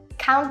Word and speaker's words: count: in for the trip the T in count isn't fully pronounced so we say count count me in Count